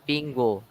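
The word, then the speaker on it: 苹果: The pronunciation of apple in Chinese is pingo, which also means safety.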